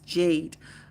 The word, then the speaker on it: JD: Sydney says my daughter's name is JD, but that is how it is spelled, but it's Jade.